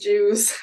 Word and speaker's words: Iewes: How is that even pronounced? It would be pronounced Jews.